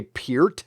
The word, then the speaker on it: Peart: say Neil Peart okay I've always said Neil Peart I don't know if that's the actual pronunciation of his last name I've heard people say peered before but I say Neil